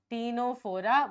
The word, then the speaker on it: Ctenophora: This is Ctenophora. Why I wrote Tino? Because T is C is silent. Okay, Ctenophora. P for Platyhelminthes.